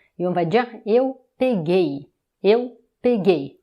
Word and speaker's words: peguei: Maintenant, on va le conjuguer au passé composé, au pretérito perfeito, et on va dire eu peguei, eu peguei. Maintenant, c'est la dernière syllabe qui est la syllabe forte, eu peguei.